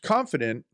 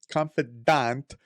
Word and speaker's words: confidante: colonel e m house confident but he's a confidante let me pronounce it correct confidante of president roosevelt emerges